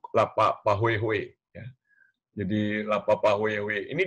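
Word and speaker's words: pāhoehoe: Pahue Hue, sorry, bukan Pahuhu, dibacanya jadi Pahue Hue, Pahue Hue.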